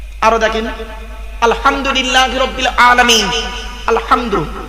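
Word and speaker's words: الحمد: দেখেন আলহামদুলিল্লাহি রাব্বিল আলামিন আলহামদু আলহামদু এই গলার ভেতর থেকে হেটা উচ্চারণ করবেন আলহামদু মানে হচ্ছে সমস্ত প্রশংসা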